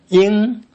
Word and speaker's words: 鹰: Ying. Ying is the birds that fly high.